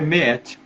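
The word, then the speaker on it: Maat: Isso foi representado pelos egípcios como o salão de Meet, escreve M-A-A-T, né? Mas se fala, né? A maneira de se pronunciar é Meet.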